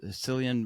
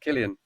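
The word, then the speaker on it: Cillian: was just in Oppenheimer celan Murphy is that oh yeah is that right Killian Killian see I knew I would do that Killian Murphy uh because he's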